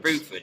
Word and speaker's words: Bruford: Is it, how do you pronounce it? Is it Rose Bruford? Bruford, yeah.